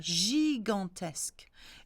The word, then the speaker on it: gigantesque: Now, gigantesque is an interesting one because you've got two G. One is the J sound and one is the G sound. When the J is followed by I or an E, it's a J sound. So it's a J or J. However, when the J is followed by an A or a O or a